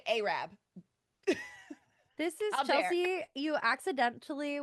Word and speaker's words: Arab: It's just like we have a town called Arab, spelled Arab, but you say Arab.